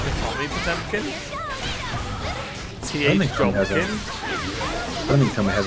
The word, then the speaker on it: Potemkin: Oh yeah, in Exard is like Potomkin, isn't it, instead of Potemkin. Potomkin! It's like Japanese pronunciation.